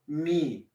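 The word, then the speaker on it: mi: Let's go back to the solfege syllable me. Notice me is spelled M-I for me. Sounds like me, but it's not me. We're not talking about me. Okay, we're talking about just the note known as me, M-I.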